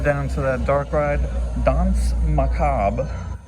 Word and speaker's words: Danse Macabre: Dons macab is how it's pronounced.